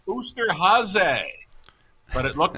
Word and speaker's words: Osterhase: I read it in the program as an Oster Hayes. And I was contacted by folks that said, that is German for Easter Bunny. It's pronounced Oosterhase.